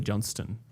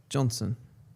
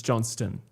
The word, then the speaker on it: Johnston: The reason it was sounding weird, you do pronounce the T, but it's not stone. It's Johnston.